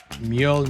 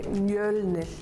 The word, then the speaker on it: Mjölnir: In Iceland we say Mjölnir. She In did Sweden, we say pretty well, Mjolnir.